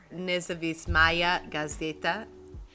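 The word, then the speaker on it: Nezavisimaya Gazeta: ascended to power in moscow the russian newspaper nizavis maya gazida that is how you say that observed a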